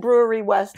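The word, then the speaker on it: Brouwerij West: um Brewery West and it has a very odd spelling b-r-o-u-w-e-r-i-j I pronounce it Brewery West I'm not sure how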